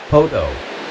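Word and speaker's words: Poteau: Wister Lake is an impound on the Poutier on the Poto River. That's how you pronounce it.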